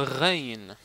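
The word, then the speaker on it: غين: On a ici le Rain. Rain, c'est comme un R, mais il est Rain, comme ça.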